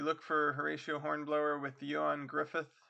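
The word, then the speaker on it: Ioan Gruffudd: But if you look for Horatio Hornblower with Yan Griffith, that's spelled funny.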